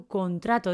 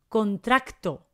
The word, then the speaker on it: contrato: nos referimos a un contrato de trabajo no se pone la letra c antes de la ultimate contracto no es contracto es contrato contrato no contracto cuidado cuidado